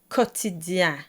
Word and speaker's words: quotidien: First it's in the amen alternative ainsi soit-il, and the ain sound will also appear with a bit of a different spelling in the word quotidien, quotidien. So, it's just dien at the very end.